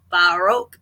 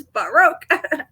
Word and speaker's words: Baroque: the the pronunciation and she's like Baro and I'm like cause it's broke it used to work but it doesn't now you know it's Baro and that was part